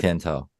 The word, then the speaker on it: Tian Tao: I don't know how that's how you say it. Tian Tao. I said it right.